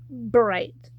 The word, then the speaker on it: Bright: Cameron Bright, and I pronounced the B in his last name because I want to pronounce it as right. I want to try to say right, but it's Bright.